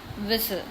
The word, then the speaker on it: whistle: Then next is whistle. In whistle, T is silent, so we have to write here two more words in which T is silent.